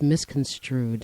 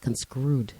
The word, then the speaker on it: misconstrued: do you pronounce it it's misconstrued it's not conscrew you know this is